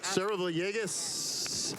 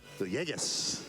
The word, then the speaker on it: Villegas: I've actually pronounced it with the L's because I'm from New York originally. All right, so she's like, Yegas, like yay, like with a Y, and I'm like, oh, okay, I got you.